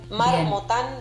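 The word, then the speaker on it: Marmottan: Marmotán doble T. Marmotán. Como una marmota. Dob T. Marmotán. Termina con N.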